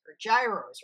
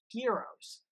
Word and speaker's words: gyros: collectively agreed on buros gyros or gyros whatever you want to call them I grew up pronouncing them heroes we all collectively agreed